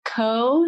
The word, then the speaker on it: Co: Her name is Ko, C-O, Meadows, like how it's spelled, the Hoodoo Queen.